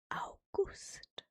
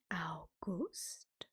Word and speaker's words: August: It's just pronounced differently, as I'm sure you can imagine. So, August in German is August. August, August, August, August, August.